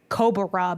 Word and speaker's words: Kobarah: They're from a brand called Camper, and the style is called Cobra, but it's spelled Kobarah.